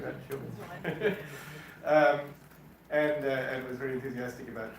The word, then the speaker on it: Siobhan: Something like that, Siobhan.